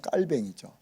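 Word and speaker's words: Calvin: 그래서 우리는 칼빈 이렇게 말하잖아요. 칼빈. 요거 이제 미국식 발음 아닙니까? 이제 원래 프랑스식으로 하면 깔뱅이죠. 그래서 어떤 책에 보면 깔뱅 이렇게 얘기하잖아요. 그 원래는 그렇게 읽어줘야 되는 거죠. 왜냐하면 프랑스 사람이니까 깔뱅 해줘야 맞는데 우리는 옛날부터 어른들이 프랑스어를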